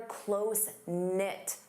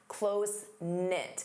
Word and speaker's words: close-knit: You can say they're closenit. Notice the K is silent. Closenknit.